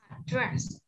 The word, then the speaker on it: address: Address. Đúng rồi, address. Address là địa chỉ nha. Nhớ cách đọc nha. Âm tiết thứ hai được nhắn nha.